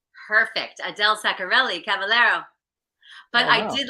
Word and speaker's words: Saccarelli-Cavallaro: Adele Saccarelli-Cavallaro.